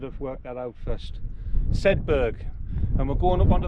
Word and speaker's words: Sedbergh: I think I'll tell you pronounce it. We should have worked that out first. Sedbergh.